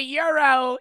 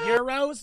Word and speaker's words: gyro: they're the same mind Euros no they're it's g-y-o g-y-r-o I think they're pronounced Euro it's a type of